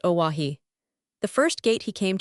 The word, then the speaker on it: Oahu: I named him after this island, Oahu, pronounced Oahi.